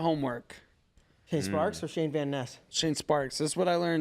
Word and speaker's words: Van Ness: Vanessa? He used to say Vaness, then somebody must have told him because now he's very distinctive, like Van Ness.